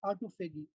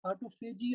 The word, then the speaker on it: autophagy: Now let's discuss the autophagy. Autophagy or autophagy you cannot you can pronounce as you like.